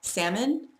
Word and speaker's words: salmon: And we have salmon. I'll make fun of you if you pronounce the L.